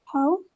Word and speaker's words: haut: Oui, talon haut. D'accord? Cuando dices tacones altos, talon haut. D'accord? Es una vocal compuesta. A U se pronuncia O.